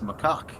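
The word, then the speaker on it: Makoch: the last name too it's uh it's German it's Mak and that's uh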